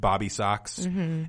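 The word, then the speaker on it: Bob B. Soxx: or three we've got Bob the socks it's probably supposed to be pronounced bobby socks and the blue jeans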